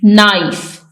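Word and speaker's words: knife: एन आई एफ ई नाइफ छुरी इसमें के साइलेंट है नेक्स्ट के एन ओड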